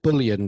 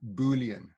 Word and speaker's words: Boolean: spell that for me so bullion did you say o l e a n boolean boolean okay thank you in fact